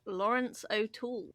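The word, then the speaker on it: Laurence O'Toole: Lawrence Oul, which is how his name is pronounced, but it's not spelled like that.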